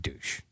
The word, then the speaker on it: Deutsch: His last name is pronounced Deutsch, by the way. It was David Douche.